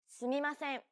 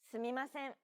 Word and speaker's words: すみません: すみません。 No character takes up more or less time than the other characters. Every character is valued equally and is pronounced evenly throughout. すみません。